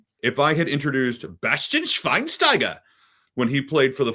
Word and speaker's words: Schweinsteiger: Like, that's how they say it in Germany, but I am not German, and we are not in Germany. So it's Bastian Schweinsteiger. It's the American pronunciation of his last name.